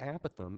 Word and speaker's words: apothem: The apothem, it's a lot more fun to say apothem, but since I'm on the web and I need to pronounce it correctly, the apothem is the perpendicular distance from the center to a side.